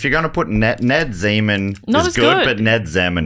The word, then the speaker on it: Zeman: So, still with Zeman. It could be Zeman. Because it is spelled like semen with a Z.